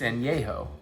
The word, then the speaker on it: Añejo: It's Añejo. I mean, I was not pronouncing it wrong. It is Añejo, not Añejo. So I gotta go tell the Total Wine people.